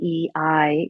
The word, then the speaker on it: Yei: So Yei is actually pronounced Ye.